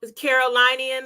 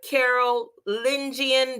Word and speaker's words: Carolingian: Here's a symbol, the Carolinian or the let's say it right, Carolingian dynasty.